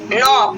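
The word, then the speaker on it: knee: के अपना क्या है जो आपका यहाँ पे साइलेंट है। नेक्स्ट देते हैं नॉक, ठीक है, ये क्या है, नॉक।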